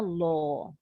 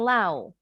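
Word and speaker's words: law: dia namanya Brother in lo bacanya lo brother in lo bacanya bukan low Wow artinya ipar laki-laki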